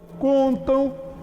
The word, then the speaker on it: contam: Bom, o M está depois de A, somente depois dessas duas vogais, de A e de E. O M depois de A tem o som de U, portanto, isso aqui também é